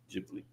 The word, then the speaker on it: Ghibli: It's spelled G H I B L I. Jibli.